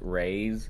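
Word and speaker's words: Raxe: do uh it's the r-a-x-e is pronounced raise you could either call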